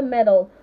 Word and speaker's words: medal: meddle in my affairs and I want a medal not a medal I want a medal I